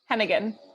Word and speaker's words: Heneghan: Mara how do you say your last name Hennigan yeah I'm really happy to to introduce Mara Hennigan who's the senior strategist at the economic security